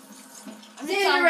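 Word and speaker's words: Xandir: Xander XD. Okay, we'll call each other by our names. And my name is spelled really weirdly.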